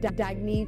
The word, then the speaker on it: Dagne: good you can live life intentionally oh it's pronounced dagne do dagy means new dawn it's a new